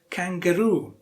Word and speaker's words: kangaroo: syllable in this once kangaroo kangaroo which is a sassed syllable Rue yes the last syllable kangaroo and similarly which one